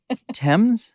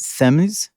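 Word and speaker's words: Thames: idea of boys in the river and you pronounced it TS TS yes not thems not F and not leester Square okay yes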